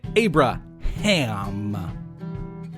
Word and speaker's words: Abraham: Everyone say Abraham. Yes, with emphasis on the ham.